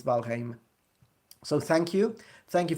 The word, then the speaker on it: Valheim: Yeah, I studied that one. I researched it. I'm like, this is Old Norse, so let's check it out. And it's Valheim.